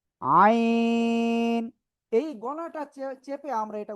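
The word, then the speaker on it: عين: আইন এই গলাটা চেপে আমরা এটা উচ্চারণ করব।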